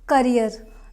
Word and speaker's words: career: Wednesday not wedes day next word is career career not carrier carrier is a different word this